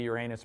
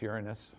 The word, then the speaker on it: Uranus: is the other one used to be Uranus but now it's Uranus I don't know people